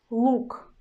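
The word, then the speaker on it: лук: The word is look, look, look. I pronounce consonant letter l as a hard one. Look, l, l, look, look, look.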